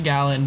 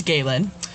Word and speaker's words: Galen: And earlier I pronounced it Galen because I'm in the Midwest, but it's Galen.